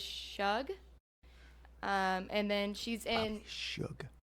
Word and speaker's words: Shug: And then she's in Shug. Shug. Okay, Yeah, like sorry. short for sugar. Okay, I'm sorry. It's spelled. Anyways, it spelled looks like shrug without the R.